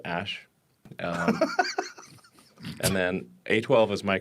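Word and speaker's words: Æ: It's just X, the letter X, and then the AE is pronounced Ash.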